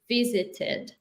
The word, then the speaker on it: visited: So words finishing with T, they are here. So it's the ID sound Oh, after verbs ending in T, T, right? So it's going to be visited.